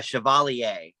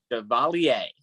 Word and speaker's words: Chevalier: How do you pronounce it? Maurice Chevalier. Chevalier.